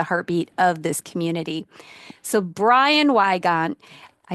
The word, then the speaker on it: Brian Weygant: So Brian Weygant, I said it right.